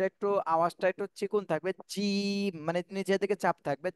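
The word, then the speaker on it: جيم: আচ্ছা যে এটা একটু আওয়াজটা একটু চিকন থাকবে জিম মানে নিজের দিকে চাপ থাকবে যে যে বললে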